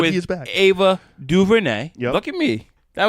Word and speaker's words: DuVernay: Yeah, it was like, DuVernay. I was like, let's Google. Tell me how to say it. DuVernay.